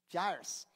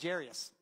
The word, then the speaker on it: Jairus: Jared just read about Jairus. Did I say it right? Jairus. I always thought it was Jairus, and I thought it would be appropriate for Jared to do the reading, but apparently it's Jairus, and Jared did a great job.